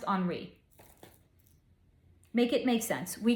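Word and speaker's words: Henri: name of like uh it's French so it's spelled Henry but I think it's pronounced HRI Peno P something like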